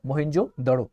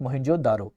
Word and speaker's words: मोहनजोदड़ो: ठीक है, remember मोहनजोदड़ो, नॉट मोहनजोदारो।